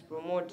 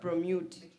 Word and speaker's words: promote: decrease discipline the spelling the pronunciation of promote is promote not prute there's a participant who